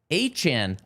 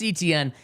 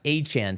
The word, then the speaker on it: Etienne: Travis Achan, I should now say. He has not changed the pronunciation of his name, but he has corrected